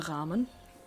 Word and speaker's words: Rahmen: A frame is a Rahmen, which sounds just like our pronunciation of ramen.